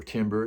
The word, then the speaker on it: timbre: The other thing that I noticed with the detuned track is that the overall timbre, or timbre as some people pronounce it, is fatter.